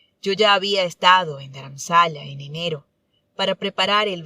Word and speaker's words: Dharamsala: Dharamsala o Dharamsala, como se pronuncia en hindi, significa morada espiritual y combina dharma o enseñanza espiritual con shala, que equivale a morada.